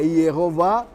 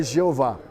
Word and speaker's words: Iehová: Então, ou é Iehová, então não pode ser Jeová.